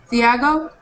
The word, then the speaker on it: Thiago: With the f sound? Yes, Thiago. Oh, Thiago with a T sound. Okay. Yes, T sound.